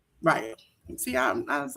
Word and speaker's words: Rayo: It's Rayo.